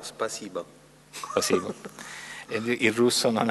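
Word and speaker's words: спасибо: Si pronuncia, giusto? Sì, una mezza O, Spasiba.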